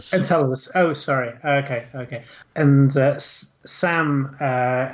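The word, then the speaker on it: Enceladus: the gizers gazes I'm never sure how to pronounce that word uh on on on enchiladas uh or in encaladus encaladus oh sorry okay and Sam says ke banga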